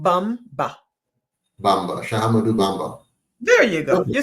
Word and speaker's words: Bamba: sh sh AMU amadu shahu B bamb shadu Bamba there you go you said it you said